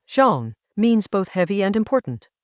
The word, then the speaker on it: 重: The character Chinese letter, zhōng, means both heavy and important.